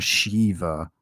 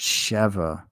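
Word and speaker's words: Sheva: pronounce her name right they keep calling her Shiva no it's shev s h evva EV V EV V that's Chev idiots say Shiva Shiva is sh Iva there's no Ian Shiva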